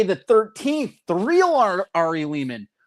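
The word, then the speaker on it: Lehman: The real Ari Leman. Leman rhymes with demon by the way.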